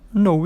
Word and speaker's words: know: Outro verbo, o know e o knew. Você não pronuncia o K ali no começo da palavra. Eles estão na primeira coluna aí. Então, know e knew, não pronunciou o K.